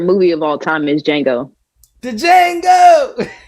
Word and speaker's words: Django: But my favorite movie of all time is Django. The Django. The D is Silent Hill, baby.